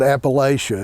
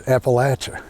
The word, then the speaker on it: Appalachia: That's why it's not Appalachia, it's Appalachia.